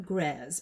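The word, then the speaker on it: Grès: be proud of me i did do my google pronunciation look up before the video to make sure that i had the name of the house correct gres um okay so i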